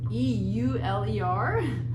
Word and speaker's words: Euler: momentum this here is the euler's top u e u l e r that's how you pronounce um his name euler and so you